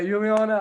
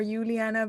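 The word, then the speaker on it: Juliana: right nice okay yeah people usually say like weird names too like or uliana but you're saying it really good yeah I'm like notoriously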